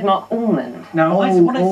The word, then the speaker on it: Marc Almond: Mark Almond.